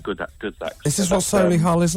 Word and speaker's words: Solihull: Isn't it Solihull? Well, that's how you say it. Solihull is how commoners say it.